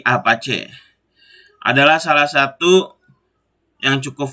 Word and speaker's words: Apache: tersebut contohnya a-apa c bukan apa Cia bacanya tapi Apache adalah salah satu yang